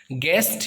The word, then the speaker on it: guest: आपको पता ही होगा गेस्ट का स्पेलिंग, गिटार का स्पेलिंग, बट कभी आपने क्या गौर किया है कि इसमें U जो है वो साइलेंट है?